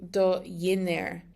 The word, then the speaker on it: dhinner: And that changes the pronunciation to do dhinner. Dhinner, like there's a Y there.